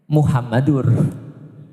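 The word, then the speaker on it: محمد: Kenapa Muhammadar? Karena ada anna, ashadu anna muhammadar rasulullah. Kalau tidak ada anna berarti bacanya Muhammadur.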